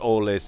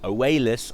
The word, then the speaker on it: Oalis: It's not Orlis, it's Oalis. I think it's really hard when someone writes in phonetically to try and persuade you, especially with the multitude of different cultures and different way people pronounce things. But anyway, I think he wanted me to call him Oalis, and he is going